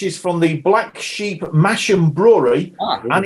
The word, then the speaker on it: Masham: I should say that it's Massam. You pronounce it Massam.